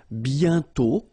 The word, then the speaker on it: bientôt: And then bientôt, okay, remember you put this accent circumflex, but you don't write it. You write it, but you don't pronounce it. And then the final T is not pronounced.